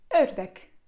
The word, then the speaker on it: ördek: Jeżeli nie, żeby wymówić ten dźwięk, należy ułożyć usta tak, jakbyśmy chcieli powiedzieć o, ale zamiast o mówimy e. O, e, e. I przykładem słowa tutaj będzie ördek, ördek, czyli kaczka.